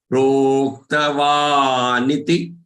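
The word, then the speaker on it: प्रोक्तवानिति: There is a tendency to say ni, ti. Don't make them long. Proktavaniti. Proktavaniti. They both have to be pronounced short.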